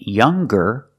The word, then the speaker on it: younger: hanger but if you look at these two words longer and younger we do pronounce the G sound longer and younger he's